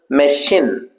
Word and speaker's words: machine: Generally we uh tend to pronounce this machine. It's not shin, it's sheen. Machine.